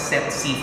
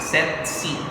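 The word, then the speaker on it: tsetse: search it in um miranda webster so they pronounce it as set c flag set c okay but some pronounces okay all right so both the species can be transmitted by sexy fly but they differ in the species of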